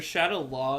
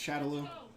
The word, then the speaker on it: Shadaloo: shadaloo oh Shadow yeah or Shadow La is how it's pronounced maybe that's how the English pronounces it no it's shadaloo see she held down